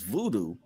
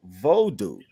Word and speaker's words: vodu: song is called Voodoo at first when I looked at it I thought it was Voodoo but it's vodu by ohms featuring bartho all right